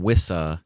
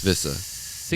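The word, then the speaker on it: Wissa: turn of 2025 yoan wiissa yeah that's it's vissa you can't say you can't say it like a like a like a w Johan wiissa you don't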